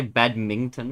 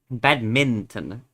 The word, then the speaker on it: badminton: You sounds like you add a G in there sometimes. Oh, if I say badmintton, maybe. Yeah, badminton.